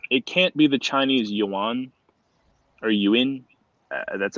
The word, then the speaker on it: yuan: can't be the chinese yuan are you in uh that's actually i had a chinese guy it's pronounced ewing because they basically print